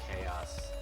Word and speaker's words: chaos: Actually, what would chows be if you put the chaos sound, you know? It would be chaos. Chows? It's spelt chaos, but you say chows.